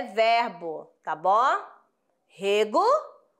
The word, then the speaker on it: rego: ser diferente vamos lá vamos perceber assim ó Rego Rego né é um substantivo ó e Rego ó eu régua as plantas então aqui ó é verbo tá bom Rego e régua aí ó